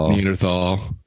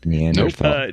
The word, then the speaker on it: Neanderthal: Neanderthal. The H is silent. Neanderthal.